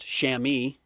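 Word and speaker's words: chamois: have gotten the actual shammy taken off the market. I'm sure you can buy it cuz Yeah, that stuff soaks up water like you wouldn't believe. A shamwa cloth pronounced shami.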